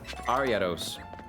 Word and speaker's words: Ariados: Ariados.